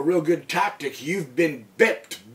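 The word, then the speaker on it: byped: good tactic, you've been bipped. B-Y-P-E-D, but it's pronounced bipped.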